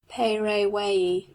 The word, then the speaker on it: Paraguay: Also they call their river, which we spell Paraguay, and pronounce I don't know how, Peirawei.